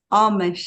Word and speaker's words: Amish: And the name is pronounced here as Amish.